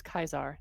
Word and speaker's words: Caesar: If you actually pronounce it in Latin, it's Kaiser, not Caesar.